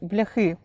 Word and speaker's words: бляхи: В нас такі називають бляхи, і це слово має наголос на останній склад, і не має жодного відношення до популярної у російськомовних лайки.